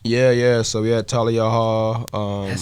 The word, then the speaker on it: Thalia: to pop out yeah yeah so we had tal yall um that's how you say it tal I